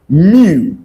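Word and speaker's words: μ: That thing that looks like U, I tell it's pronounced mu.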